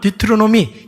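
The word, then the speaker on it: Deuteronomy: 그러니까 영어로는 디트로노미 이렇게 발음을 하게 되는데 여러분 많은 학자들이 반복된 율법, 제2의 율법이라고 이야기합니다.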